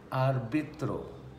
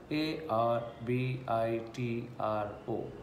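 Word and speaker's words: árbitro: word for referee is arbitro a r b i t r o so very easy to pronounce what we write the same thing we pronounce arbitro the word for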